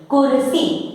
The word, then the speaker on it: कुर्सी: तो जब आप इस शब्द को पढ़ेंगे तो स का उच्चारण करने के पहले आप र लगा देंगे, कुर्सी।